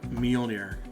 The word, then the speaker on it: Mjolnir: be deemed worthy to wield uh Mjolnir. Uh, if I pronounced that wrong, I'm sorry. Yell at me in the comments. Uh, you said it right.